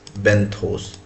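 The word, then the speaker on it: benthos: पहले तो दोस्तों प्रोनाउंसिएशन देख लेते हैं बेंथोस का। बी ई एन टी एच ओ एस बेंथोस बी ई एन टी एच ओ एस बेंथोस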